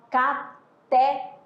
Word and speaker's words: cateté: A Madinha deu ênfase, ela falou, pronunciou, né? O quê? A última sílaba com mais intensidade. Por quê? Porque essa palavra, né, ela é aí classificada como oxítona, né?